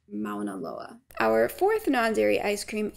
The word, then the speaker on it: Mauna Loa: did some Googling and it looks like this one is probably pronounced Mauna Loa our fourth non-dairy ice